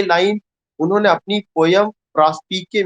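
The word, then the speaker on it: Prospice: कुछ लोग इसका प्रोनाउंसिएशन प्रास्पाइस करेंगे, लेकिन प्रास्पाइस नहीं करना है। The correct pronunciation is प्रास्पिके and that is in Latin and it means to look forward, आगे की ओर देखना।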